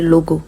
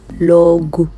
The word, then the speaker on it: logo: I didn't say logo. Logo. Go. So the last sound comes like a U, okay? When you see an O ending any word in Portuguese, you're going to get the U sound, alright?